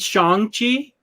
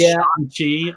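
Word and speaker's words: Shang-Chi: Somebody said Shang Chi in the trailer. In the trailer, his name, and that's how you're supposed to pronounce it. So now it's Shang Chi.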